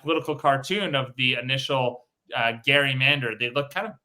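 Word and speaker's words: Gerry: of Massachusetts Eldridge Gary he pronounced his name Gary g r r y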